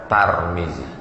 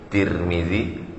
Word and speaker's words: Tirmizi: Boleh juga dibaca Turmuzi, boleh juga dibaca Tarmizi. 3 cara membacanya: Tarmizi, Tirmizi, Turmuzi.